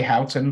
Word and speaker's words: Houghton: were up in like I'm gonna say Houghton but apparently michiganders pronounce it differently like Hooten or something like that um and it was